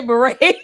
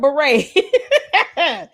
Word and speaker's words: beret: She figured out how to say beret. Damn, this kick rocks. She finally learned how to say the word beret cuz I was definitely expecting her to say bere.